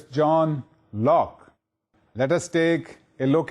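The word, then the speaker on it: John Locke: as Lo or Loi the e at the end is silent so it's John Lock let us take a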